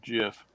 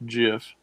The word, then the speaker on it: GIF: you're right it's pronounced jiff okay the inventor says it's jiff oh good we got